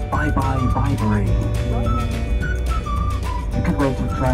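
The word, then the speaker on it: Bibury: how to pronounce it but you remember byebye Viber help you out there sometimes at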